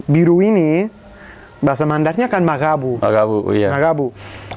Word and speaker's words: magabu: Tapi pengucapannya huruf G itu bukan G, bukan magabu, tapi magabu. Magabu. Itu bunyi itu tidak ada di bahasa lain, tidak ada di bahasa Indonesia, tidak ada di bahasa Bugis.